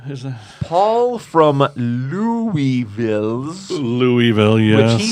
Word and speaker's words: Louisville: city was name named for French King Louie the 16th therefore it is pronounced Louisville and that's where he